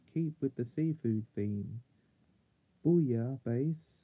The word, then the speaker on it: Booyah Base: Booyah Base is pronounced roughly the same as Booyah Base, a French seafood stew.